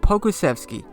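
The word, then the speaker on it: Pokuševski: With the 11th pick, the San Antonio Spurs will select my boy Aleksej Pokusevski. He's a power forward out of Olympiacos, and yes, that is how you pronounce his name.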